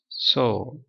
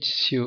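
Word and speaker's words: sew: ஆனால் இதில் வந்து ஷோ அப்படின்னு ப்ரொனவுன்ஸ் பண்ணுது. ஓகே, இதில் உள்ள ப்ரொனவுன்ஸ் இப்போ கற்றுக்கலாமே. ஸோ ஸோ ஆனால் இதை நம்ம ப்ரொனவுன்ஸ் பண்ணுறது சிவ் அப்படின்னு பண்ணுவாங்க, சிவிங் மிஷின் தான் வந்திருக்கு. ஸோ சோ சோ அப்படின்னு வச்சுக்கோங்க, சோனா தை.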